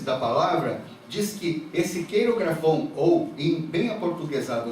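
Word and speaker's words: χειρόγραφον: A palavra que fala ali, o certificado de dívida, que era contrária a nós, é esta palavra, cheirografon, que a pronúncia correta é queirografon.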